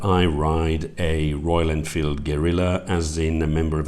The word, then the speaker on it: Guerrilla: the word Gilla Gorilla is almost indistinguishable from a gorilla meaning I'd constantly be fighting the urge to tell people that I ride a Royal Enfield Guerilla as in a member